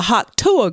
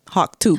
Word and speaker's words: Hawk Tuah: girl yeah so and Hawk is spelled like Hawk ha a WK and two even though she said it's Tu it's Tu but it's t a girl Hawk two girl talk to her y